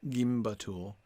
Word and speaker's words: gimbatul: ul yes i agree it would be gimbattle yeah yeah in the end i think i've got to go with that i think i've got to go back to the way i initially pronounced it because i think that that last u is long that's what i'm thinking